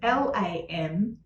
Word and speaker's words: Lam: So it's L-A-M, but it's pronounced a bit like L-U-M, LAM.